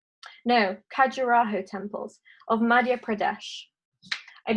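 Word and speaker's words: Khajuraho: And then someone else pointed me to a group of temples called the Kandahar Temples. Let me just say it right. No, Carajo Temples of Madhya Pradesh.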